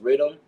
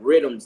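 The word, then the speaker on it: riddim: songs they have different rhythms they call it's not spelled the traditional way of Rhythm it's spelled r i d d i m Rhythm so it comes because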